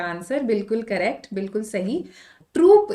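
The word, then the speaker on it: troupe: Troop is used for a group of soldiers, whereas this troop, OUPE pronunciation, is used for entertainers, dancers, artists, singers, right? All of them. So here we are talking about singers, right? Probably BTS is coming. So we'll use troop, OUPE. Gang, bank, no.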